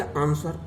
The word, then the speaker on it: answer: अब चलिए आंसर, ANSWER, आंसर माने उत्तर, तो इसमें भी W साइलेंस वर्ड है।